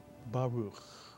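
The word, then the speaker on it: ברוך: So the first syllable is simply ba, and the second syllable is ruch, mitsuyan. Put the word together, baruch or baruch.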